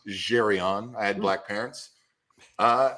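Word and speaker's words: Zsryon: my art name but it it's pronounced jerion I had black parents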